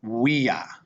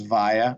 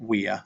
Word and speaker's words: via: Okay, and this would be pronounced via. We see this in English as via or via, but remember that V is a W. So this would be pronounced via, and this means street.